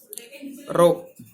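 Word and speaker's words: ρ: Membacanya rho.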